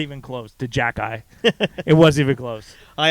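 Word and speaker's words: Xhekaj: h e j a j oh yes it's pronounced jackey it's arbor jacket jackey it's funny i a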